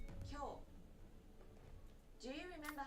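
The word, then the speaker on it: 今日: Kyou. Kyou.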